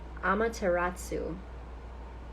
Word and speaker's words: Amaterasu: mirror you are Beauty oh I love that Amaterasu that's how you say her name amateratsu omikami